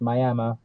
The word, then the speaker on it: Miami: Indian casino in Miami spelled like Miami but pronounced Miami Oklahoma in this tiny little place that held